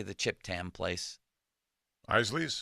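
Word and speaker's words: Isaly's: how do you say the chip tamam Place Isley Isley yes thank you Isley Etna beos and Greater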